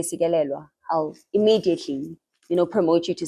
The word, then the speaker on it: Sikelelwa: But we want to know from you, how do you describe yourself, and who is Sikelelwa?